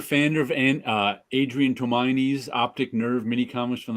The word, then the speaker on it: Tomine: say his name too tomini I heard but I'm not exactly sure it's still meaning it's from it's Japanese tomine okay I know I've